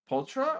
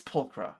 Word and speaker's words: Pulchra: Pultra or is it pronounced Pulcra?